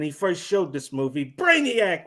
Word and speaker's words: Brainiac: first showed this movie Brainiac rhymes with laugh attack thank you Jerry didn't